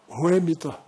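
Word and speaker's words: Whemytta: Ela disse, Ruemita. Eu disse, como é que se escreve?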